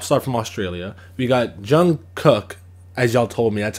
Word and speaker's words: Jung Kook: kid Leroy pop star from Australia we got Jung cook as y'all told me that's how it's pronounced and he's a BTS pop star so